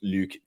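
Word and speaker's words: Luc: around you guys, are just like that sound, Luke, easy, like simple. You've met many people with that kind of pronunciation in their name, but even in Canada,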